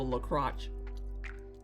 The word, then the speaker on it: LaCroix: Oh, you logged out over the La Croche. I mean, that is the correct pronunciation of LaCroix.